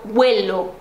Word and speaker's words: huelo: Então, por exemplo, yo huelo, ali a primeira sílaba é a tônica.